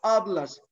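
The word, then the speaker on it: hablas: سايلنت الاتش نو سوبرونونسيا حرف الاتش ده مش بيتنطق طيب امي تعرفي تقولي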